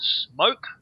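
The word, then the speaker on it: Smoque: So essentially what we have to do is we're going to a place called Smoke, which is in the city. S-M-O-Q-U-E. S-M-O-Q-U-E, not S-M-O-K-E, like most people would spell it.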